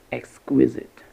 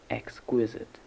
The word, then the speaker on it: exquisite: vocabulary moving on to exquisite exquisite exquisite has three syllables the first one is X x and the other are pronounced the schwa sound uh so the stress is on the first syllable X like an excellent